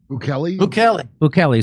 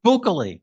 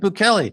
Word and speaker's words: Bukele: Bukele. So extraordinary El Salvador. Or if you're Alex Jones, you can pronounce it Bukele.